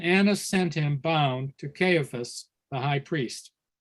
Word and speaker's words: Caiaphas: I've also heard this word pronounced Caiaphas. I'm not sure which is the more common pronunciation, Caiaphas or Caiaphas. As soon as you said Caiaphas, I thought Caiaphas. Yes, I think Caiaphas is what I most likely would pronounce it, but I'm just looking at the pronunciation guide in this particular Bible, and it says Caiaphas. Perhaps that's a British pronunciation.